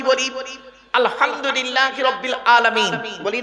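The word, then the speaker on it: الحمد لله: গিয়ে আমরা কি বলি আলহামদুলিল্লাহি রাব্বিল আলামিন বলি না আলহামদু এই গলার ভেতর থেকে হে এটা উচ্চারণ করবেন আলহামদুলিল্লাহ এর মানে হচ্ছে সমস্ত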